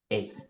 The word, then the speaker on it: ache: some words which is called this way it's pronounced hey ready what is the mean of ache dollar